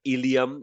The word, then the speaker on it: ilium: There's a bone there called the ilium, as we'll learn, not to be confused with the digestive system ilium. They spells differently, pronounced the same.